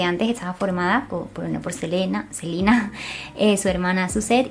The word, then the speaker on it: Selena: mucha gracia porque, claro, ella se llama Selena porque se pronuncia así como en inglés. Lo que pasa que la mayoría de gente que hablamos español le llamamos Selena porque se escribe así y la costumbre, o